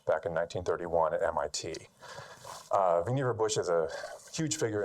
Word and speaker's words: Vannevar: about him is that his first name rhymes with achiever not Vannevar so now you'll know